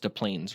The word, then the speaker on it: Des Plaines: So it's just pronounced Des Plaines, right? Like the S is silent?